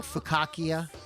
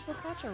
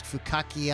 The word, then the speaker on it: focaccia: Oh, they spelled focaccia right on the thing here. Nice, that's tough. I make it, I can't spell it. Fukaki. I used to think it was fukaki.